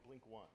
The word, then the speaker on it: blink(1): creator of the popular how how do you pronounce this blink blinkin blink one blink one okay blink One USB notification light